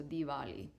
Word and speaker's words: Diwali: But that's why the W it would kind of become more like a V. So Dvali.